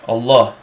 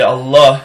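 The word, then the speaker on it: الله: For example, the name of God in Arabic, Allah. Okay, Allah is a dotted lamed, like you would pronounce it in Hebrew.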